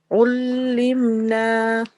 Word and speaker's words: علمنا: I felt like you did a jerk on the letter meme. Yeah. Okay. Yeah. So can you try that again? علمنا. Much better, Jazakillah. So the sound of meme should be very clear.